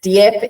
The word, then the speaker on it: Dieppe: Shouldn't have pronounced the E. Dieppe in France used to